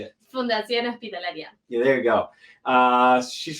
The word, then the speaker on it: Fundación Hospitalaria: Fundación Hospitalaria.